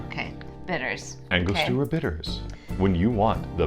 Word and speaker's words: Angostura: Oh, Angostura. Okay, bitters. Angostura bitters.